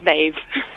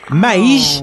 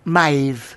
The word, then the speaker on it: Maeve: My name is Maeve. Maze? Oh, Maeve. Maeve. Oh, Maeve. It rhymes with Dave. Okay, not Maze, as in the Maze prison.